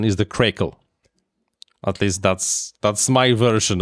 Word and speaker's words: Craycle: It's a correct pronunciation is the Craycle.